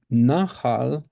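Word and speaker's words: נחל: So, nahar, har is the second syllable, and nahal, it's the stress on the first syllable.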